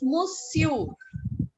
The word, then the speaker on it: monsieur: Pronunciation of what? Ma'am, the man. Man is monsieur.